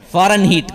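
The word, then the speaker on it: Fahrenheit: ہیٹ تھا۔ اور یہ ہیٹ وہ نہیں ہے جو HEAT ہیٹ گرمی سے ہوتا ہے، وہ ہیٹ نہیں ہے، یہ HEIT ہے، اس کا نام ہے اصل میں فارن ہیٹ کا۔ تو اس کے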